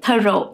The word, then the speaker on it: thorough: Thorough, thorough, not through, thorough, this is thorough.